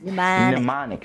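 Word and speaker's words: mnemonic: of improving the memory pneumonic pneumonic pneumonic it starts with an m so the m is silent pumic an does it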